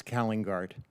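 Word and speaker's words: Calingaert: You had it right, Senator. It's Kallengaert.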